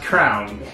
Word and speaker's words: crayon: to teach kids that crayon is pronounced crown. And now for some reason, Missouri is the only place that seems to pronounce crayon crown.